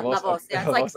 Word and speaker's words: La Voz: Am I pronouncing it correct? Yeah, Lavoz.